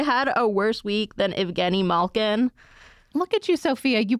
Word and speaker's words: Evgeni Malkin: Have they had a worse week than Evgeni Malkin? Look at you, Sophia. You pronounced it correctly.